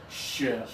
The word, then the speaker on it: ship: And now the low tongue, the difficult one, ship. Sheep. Good job. Think about your tongue being low in your mouth. Ship.